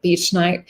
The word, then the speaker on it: bentonite: So bentonite clay, I think some people pronounce it betonite.